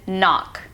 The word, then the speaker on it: knock: The K, as you might have guessed, is also silent, as in knock.